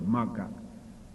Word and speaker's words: Magga: Here, Magga, in Pali they call Magga. Ma is one word, Ga is one word, but two syllables, Magga.